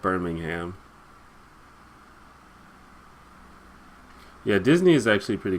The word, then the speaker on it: Birmingham: is more closely pronounced Bingham but the one in in America is called Birmingham yeah Disney is actually